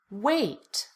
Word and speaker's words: weight: Weight. Again, the GH disappears. We don't pronounce it.